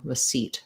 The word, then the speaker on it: receipt: can do an but thinking of it as a as a schwa as the is going to make you have the right rhythm receipt receipt and then all